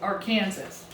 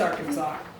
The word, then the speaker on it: Arkansas: And Arkansas is really tricky because it's actually the same as Kansas, but we don't pronounce it Arkansas. It's Arkansas.